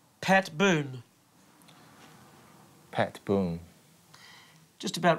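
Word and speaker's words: Boone: What about uh how would you pronounce Pat Boon? Pat Boon. Just about right. Boon with an N. B O N E. Boon. Boon. Boon. Boon. Boon. Yeah. Boon. Boon. Yeah. Not D. Not boond. Boon.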